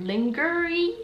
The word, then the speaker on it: lingerie: It's spelled so weird, lingerie, but it's called lingerie, huh, whatever.